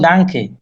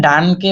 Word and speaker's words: Danke: নিশ্চ ডানকে, আমরা কিন্তু এটাকে ডানকে বলবো না, যদিও এন আছে এখানে, হুম, কিন্তু আমরা এনটা